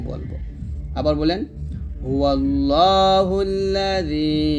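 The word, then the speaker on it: هُوَ اللَّهُ: বিসমিল্লাহির রাহমানির রাহিম হুয়াল্লাহুল হুয়াল্লাহ হা পেশ হু এই লামকে ধরে ফেলবেন হুয়াল্লাহ দেখুন এখানে লা বলা যাবে না ল বলতে হবে এখানে সুন্দর করে ল লেখা আছে একসাথে পড়ি তিনটা শব্দ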